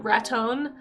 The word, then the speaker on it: Raton: If you ever listen to the radio station there, even though it's spelled like Raton, like baton, Raton, it's Raton. That's how they say it.